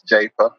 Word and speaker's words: Jafa: always my grandfather's name people often pronounce it as Arthur Jaffa and it's not Jaffa it's japa but I would say